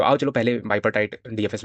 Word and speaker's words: bipartite: Okay, तो जैसे हम लोगों ने कल क्या किया था, ये बीपर्टाइट या बाइपर्टाइट, बाइपर्टाइट बोलना ज़्यादा बेटर है क्योंकि बाई पार्ट में करता है हम लोग का, है ना। तो बाइपर्टाइट प्रोनाउंसिएशन ज़्यादा करेक्ट है।